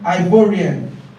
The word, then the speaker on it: Ivorian: for giving us the English version but the pronunciation of that would be ivorian okay okay now let's proceed a person from